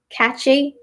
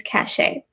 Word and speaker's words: cachet: r so that's different there's also cachet or cash you can say see a CH e many people might say catchy catchy but that's spelled a different way this is cachet there's also whistle boshy